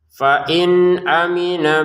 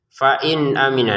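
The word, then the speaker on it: فَإِنْ أَمِنَ: Nah, ini fain nun sukun ni bertemu dengan hamzah. Kita bacanya dengan jelas ya. Fain aminah. Jadi jangan fain aminah. Itu kan dengungan. Nah, ini dibaca dengan jelas enggak ada dengungannya.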